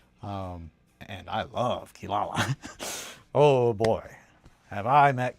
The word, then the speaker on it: Kirara: Yeah, Kirara or Kilala because that is the cat from Inuasha that is spelled like that, but it's pronounced with L's. Um, and I love Kilala.